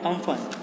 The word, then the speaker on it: Amphan: जो सजेस्टेड नाम है, उनकी भाषा में इसे जो प्रोनाउंस करते हैं वो अम्पन है, यानी UMPUN, सॉरी।